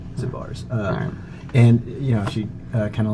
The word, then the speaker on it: Zabar's: It's a pretty famous grocery store, but like she's Zanzibar. No, it's Zabar. Zabar's.